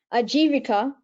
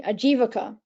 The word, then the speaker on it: ajivika: that I've seen um ajivika achieve oh no I have to pronounce it properly ajivaka ajivaka is spelled a j i v i k a a j i v